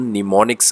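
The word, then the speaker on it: mnemonics: body in को हम निमोनिक्स कहते हैं कि निमोनिक्स में हम लिखा जाता है लेकिन बोलने में हम साइलेंट है यह इसको पढ़ने में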